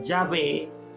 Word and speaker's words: Yahvé: Más allá de que unos dicen Mira se pronuncia yahvé se pronuncia Jehová se pronuncia yahwe Eh hay una eh